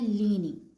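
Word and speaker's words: ligne: इसे हम कहते हैं लीनिंग। ठीक है? जी एन की वजह से नी आ गया। और इ तो यूजली साइलेंट होता है। इसका रूल भी हमने देखा था पीछे। तो ये वर्ड है लीनी।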